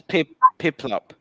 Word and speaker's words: Piplup: Actually, it's Pillip. I think I'm not very good at pronouncing it. Yeah, Pokemon names are weird. Which one is it? The blue penguin? Yeah. How do you pronounce that? That's Piplup.